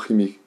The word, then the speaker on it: Himy: Non, pour Michael Imi, si je prononce bien, H-I-M-Y, Imi, ou Chimi, parce qu'on peut le prononcer de deux façons, je pense que c'est Imi.